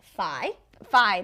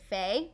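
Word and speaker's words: Fai: her and her friend phi phi that's how you say it by okay because he was recently on Keeping Up with the Kardashians and I think previously I had said Fey mhm I was like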